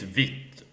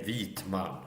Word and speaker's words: vit: It starts with like a V word sound rather.